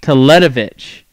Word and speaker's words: Teletovic: Teletovic.